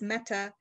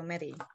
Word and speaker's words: Mette: first name is it mete or metis um it's a danish name and it's supposed to be pronounced meta but my mother's name